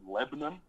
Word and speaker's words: Lebanon: this is one where like what there's a Lebanon here except you pronounce it Lebanon okay it's about 20 minutes away from here